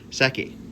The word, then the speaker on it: Seki: I'm going to say Seki. Can you hold on for a second? All right, I just came back and I asked my wife, and she said I said it right the first time.